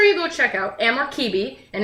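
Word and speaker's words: Cibi: So make sure you go check out Amor Kibi, and it's pronounced, with the C-I-B-I is pronounced Kibi in Latin.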